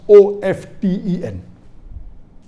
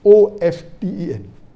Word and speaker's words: often: saying often is correct T is not silent it should be pronounced some said t sand